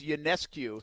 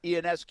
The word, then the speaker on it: Ionescu: probably both falling because it's you Ness Q not Ian sq or whatever the heck you said sq ionescu we're falling